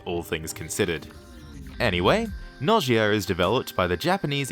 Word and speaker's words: Gnosia: it should be pronounced Gia but considering the word linguistic Origins I'm going to pronounce it without the G and just say no